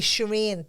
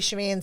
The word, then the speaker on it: Sharon: But my name is spelled Sharon. But it's a Persian name. So I don't know why they spelt it Sharon, but it's said from since I'm a child, Shireen. So that's Shereen, Shireen.